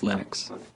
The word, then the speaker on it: Linux: lonus and I really don't care how people pronounce my name but Linux is always Linux he developed a kernel and got it working